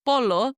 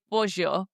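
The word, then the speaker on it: pollo: We say jama or instead of saying polo, we say bour, which means chicken.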